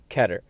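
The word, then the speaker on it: Keter: dog lastly we have ketter pronunciation is highly debated here some say ketter some take heater i'm going to go for ketter ketter class anomalies have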